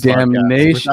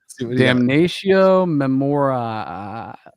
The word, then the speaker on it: Damnatio Memoriae: I want you to pronounce the name of this. It's Damnation. No, don't tell it, dude. Damnatio Memoriae.